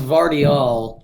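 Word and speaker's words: Gvardiol: The one issue is the G is silent, so it's just Vardiol. Oh, it's Vardiol.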